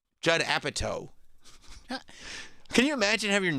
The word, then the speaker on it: Apatow: They said Judd Apatow. Can you imagine having your name mispronounced by the guys doing play-by-play of the Golden Globes?